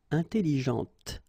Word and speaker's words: intelligente: Intelligente. Same thing here. When you put this well, actually you will pronounce the final T, okay, but you don't pronounce this here. Intelligente. Okay, so une voiture, elle parle, intelligente.